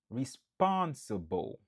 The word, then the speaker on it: responsible: Responsible. Qui signifie responsable. 4 syllabes, nap accentué sous deuxième nan.